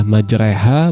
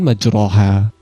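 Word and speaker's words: مجريها: Kata majroha dibaca dengan memiringkan fathah pada huruf ro kepada kasroh. Fathah yang dimiringkan kepada kasroh tersebut berubah seolah menjadi suara e. Jadi cara membacanya adalah majreha bukan majroha.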